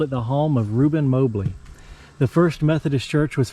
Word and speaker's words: Mobley: Mobley. That's how the local people pronounce that, Mobley.